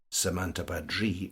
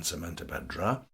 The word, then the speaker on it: Samantabhadri: shown as samanta badri note the change to the final syllable samanta badri rather than samanta badra and is female the